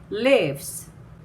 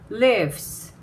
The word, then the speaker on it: lives: 자, 이 lives 발음하실 때요. 레까지는 음성을 소리를 내시고 끝부분을 바람 소리로 마무리를 하는데 한번 잘 들어보세요. lives, lives. 자, 레까지 음성이 있고 이렇게 바람 소리로 나가는 겁니다.